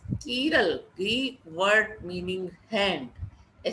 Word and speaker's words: chiral: And an object having no plane of symmetry is called dissymmetric or chiral, pronounced as chiral, Greek word meaning hand.